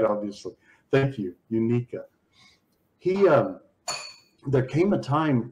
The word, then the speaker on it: Uniqueka: It's Uniqueka. Thank you. I kept weighing. I don't know how to pronounce it right, obviously. Thank you, Uniqueka.